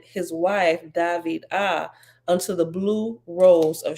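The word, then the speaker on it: Dhviydah: means beloved is pronounced David ah okay David ah okay David ah with the emphasis on the second syllable okay behold I was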